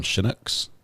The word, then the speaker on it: Chinook: options they call them Chinooks like she she Nicks I'm saying and you say Chinook okay not pronounced like naked chin but like shin Scott thank you very